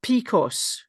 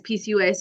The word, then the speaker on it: PCOS: this right because I have a friend who pronounced this picos. Mhm. Would you say that as PCOS? So we would say Picos, but we would also just say as PCOS is the short form of polycystic ovary syndrome.